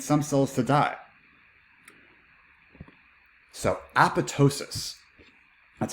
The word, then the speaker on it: apoptosis: survive we need some cells to die so apoptosis that's how we pronounce it apoptosis is programmed cell death or cell suicide and